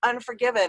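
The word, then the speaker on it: UN4GVN: cool um that song it's spelled u n 4 g v n like there's no vowels in it except for the you yeah great license plate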